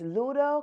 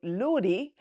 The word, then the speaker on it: Ludo: Um, some of you may know it as Ludo cuz I did a little bit of research on the internet to see what was the correct name for this game. So, I found out that some people call it Ludo. We from Jamaica call it Ludy.